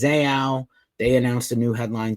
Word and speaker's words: Zao: I've been picked on for saying their name wrong. It's Zao.